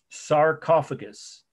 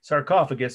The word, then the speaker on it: sarcophagus: but the name of this is one word sarcophagus or if you're from Indiana as my favorite aunt used to mispronounce these foreign words sarcophagus she called it sarcophagus I'll spell that once for you as s